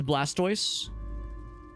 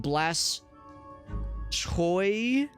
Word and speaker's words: Blastoise: do you pronounce Blastoise I pronounce it as Blastoise like I just said I guess I could see like blast toy maybe or like how else would you pronounce it cuz of like the tortoise so like blast tus maybe yeah that that's one where like the way it's spelled you can see what they were going for you can see what